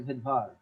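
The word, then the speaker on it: Svedberg: বলছে এস কিন্তু যখন উচ্চারণ করতে বলছে তখন উচ্চারণ করছে ভেদভার বুঝতে পারছেন আচ্ছা এবার আমরা আসবো ইউক্যারিটিক সেল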